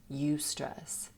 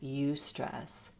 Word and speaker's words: eustress: stress is actually eustress you stress it's spelled e-u-s-t-r-e-s-s you stress that's the term that